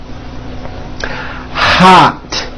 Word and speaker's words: hot: Hot. You see, it's not hot, it's ah. Hot.